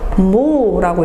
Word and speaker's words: mho: 자, 옴을 영어로 쓰면요. OHM이거든요. 이걸 거꾸로 읽어보세요. MHO가 되죠. 모라고 읽으면 돼요.